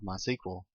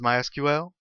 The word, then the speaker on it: MySQL: been calling it MySQL that is the correct pronunciation however it is also commonly called my sequel if you hear it called that don't be confused it's the same thing so what is MySQL well MySQL is a relational database management system